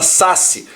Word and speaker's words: saci: tenha última sílaba tônica por exemplo fubá ou Saci daqui ó fiz a última sílaba tônica não fala fubá não Fala saci é fubá Saci Então você conta sempre